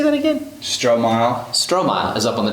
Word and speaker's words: Stromile: Stromile.